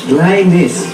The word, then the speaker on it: Linus: Now we have Linus, is that the right way to pronounce it? Very Linus. name. Yeah. Unique. Oo. Linus.